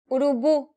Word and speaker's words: Urubu: Urubu. This word ends with the vowel U, meaning the stress should be on the last syllable.